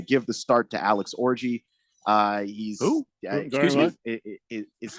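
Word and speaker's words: Orji: they're going to give the start to Alex orgy uh he's excuse me his name is spelled o rji is how you spell it but it's it is pronounced orgy so he's just he's he's taking over the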